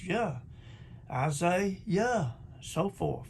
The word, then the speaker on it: Jah: name john it's your his name is your in hallelujah because that is the sound of the name of god not yah or ye but yeah it don't get no plainer